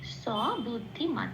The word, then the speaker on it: স বুদ্ধিমান: সাথে জুড়ে উচ্চারিত হবে সেজন্য বলতে হবে মান স বুদ্ধিমান আচ্ছা আরেকটা কথা বলে দিই সেরয়ের উচ্চারণটা সারেগামা পায়ে যে আমরা সাটা বলি ঠিক